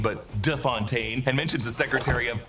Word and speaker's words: de Fontaine: Val corrects Congressman Gary on the pronunciation of her name. It's not Fontaine, but De Fontaine, and mentions the Secretary of Defense as Anderson.